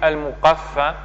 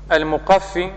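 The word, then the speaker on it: المقفي: Et certains ont dit al-muqaffa, et en fonction de la prononciation, il y a deux sens différents. Mais ce qui est à retenir, c'est que al-muqaffi, c'est celui qui est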